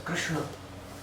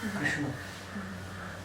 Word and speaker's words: Krishna: So, it's Krishna. The tongue should bend, Krishna. And then touch the top of the palate.